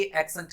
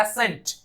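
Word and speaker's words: accent: इसे ही कई लोग गलत पढ़ते हैं, इसे कई प्रोनाउंस करते हैं एसेंट, वो गलत है, इसे हमें प्रोनाउंस करना है एक्सेंट, ये है करेक्ट प्रोनाउंसिएशन, एक्सेंट।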